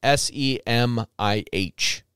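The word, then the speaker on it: Semih: It's S-E-M-I-H, Semi. The H is silent.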